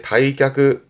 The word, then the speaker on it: 退却: 퇴각의 다이크 다이크 음은 퇴각의 각 이저도 오늘 언급한 거면 충분히 소화됩니다.